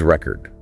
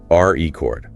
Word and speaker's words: record: As a noun, like a vinyl record or setting a world record, the stress is on the first syllable. R E chord. R chord. Got it. But as a verb, like to record this podcast, the stress shifts to the second syllable.